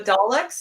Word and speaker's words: Daleks: The Daleks, is that how you say it?